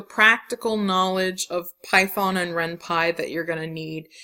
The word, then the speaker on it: Ren'Py: So the really high level goal is to learn the practical knowledge of Python and Ren'Py that you're going to need in order to make an RPG with Ren'Py.